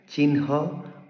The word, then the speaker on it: চিহ্ন: হচ্ মূল কথা হচ্ছে যখন হর সাথে নাসিক্য ব্যঞ্জন যুক্ত হবে তখন হ এর উচ্চারণ নাসিক্য ব্যঞ্জনের পরে করতে হয় চিনহ ব্রাহ্মণ ব্রহ্মা গৃহাতি পূর্বানহ